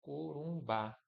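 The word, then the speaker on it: Corumbá: ó, de oxíos, ó, corumbar, ou seja, a sílaba forte é bar e determinada em a.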